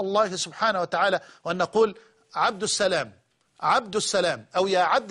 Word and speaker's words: عبد السلام: لفته في النطق فقط قالت بان الناس حين ينادونها على عبد السلام لا يقول لنا يا عبد السلام وانما عبد السلام عبس عبسلام عبد السلام هي وهذا خطا لا شك لكن ارجو الله تبارك